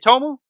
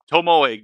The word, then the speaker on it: Tomoe: But Tomoe would make a sort of follow-up to everything saying, Is it Tomo? I'm pretty sure it's Tomoe, given like the name, but I could be wrong.